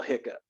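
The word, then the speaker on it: hiccough: pronounced right like hiccup how do you spell hiccup that's how you spell it h-i-c-c-o-u-g-h get cough hiccup it's a cough it's a kind of cough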